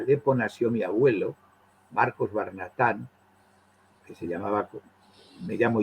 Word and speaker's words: Barnatán: el abuelo su padre perdió la H pero ganó el acento a la Argentina había que ponernos el acento en barnatán si no seríamos barnata leerlo no y efectivamente